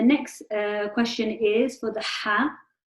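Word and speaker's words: ح: And then the next question is for the Ha. Which part of the throat is the Ha pronounced from? The middle.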